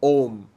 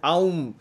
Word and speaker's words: Om: thing without knowing it when you read it om and you pronounce it ohm you're actually doing it right when you say analyze